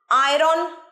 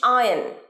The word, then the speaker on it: iron: is busy ব্যস্ত, ironing, আয়রন নয়, ইস্ত্রি করা বা ইস্ত্রি শব্দের ইংলিশ আয়ন, আয়ন, আয়রন নয়, আর সাইলেন্ট, আয়ন।